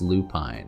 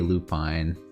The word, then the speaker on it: lupine: might be like Coulter's Lupine or something. Um, could be wrong about that, but it is indeed a Lupine or a Lupin. I've heard it pronounced both ways, but uh Oh my gosh, this is beautiful, bro.